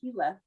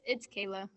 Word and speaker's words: Kayla: Is it Kayla or Keela? Did I say it right? I don't want to say it wrong. It's Kayla. Kayla.